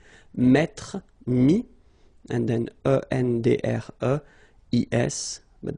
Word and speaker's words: mis: And then mettre, to put, so e-t-t-r-e, will give you this is. Mi, same thing here, final s is not pronounced.